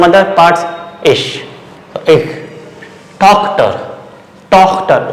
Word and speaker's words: Tochter: So ich, Tochter, O, before ch O, Tochter.